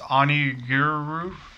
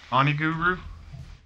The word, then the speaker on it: Onigiri: It's Onigiri. Onigiri. I don't know. Game share? No, DJ, we don't game share. Shh, don't report. They can't really. Microsoft can't really do shit about it. I know. Onigiri.